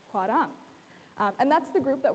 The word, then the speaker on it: 화랑: We've got hua, and then we've got our second syllable, which is rang. It's a little bit closer to an L and an R sound mixed together, so putting it all together, it is hwarang.